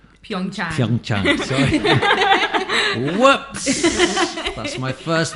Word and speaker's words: Pyeongchang: Pyeongchang. Pyeongchang. Sorry. Whoops. That's my first mistake. Pyeongchang.